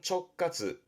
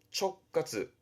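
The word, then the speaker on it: 直轄: 발음은 촉카즈. 촉카즈 직접 다스리는 뭐 직칼시라든가 쓰여지겠습니다만은이 할자는 관할 칸 같으면 충분히 되실 겁니다.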